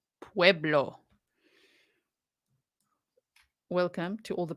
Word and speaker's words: Pueblo: I read that because you don't want me to say to puerblo right Pueblo welcome to all the